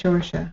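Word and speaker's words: Saoirse: It's pronounced Shorsha.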